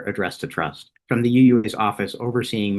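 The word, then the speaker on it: TRpUUsT: a note that says the P is silent and the S is small. It does make me laugh every time. One of the key challenges we had from the very beginning was who Trust would be designed to serve.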